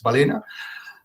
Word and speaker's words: balena: is the balena well i pronounce it in italian i don't know if it's the right way to pronounce it but it's balina uh it's it's so it's